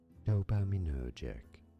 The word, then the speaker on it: dopaminergic: Dopaminergic.